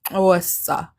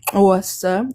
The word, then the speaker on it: Xhosa: From Xhosa, the self-distinguished name of the people pronounced with a soft click, and the click consonant is represented in writing by the X in the Latinized orthography of Isis Xhosa.